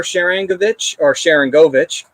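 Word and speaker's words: Sharangovich: So Igor Sharankovic is the proper way to pronounce that.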